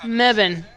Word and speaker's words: Mebane: Mebane.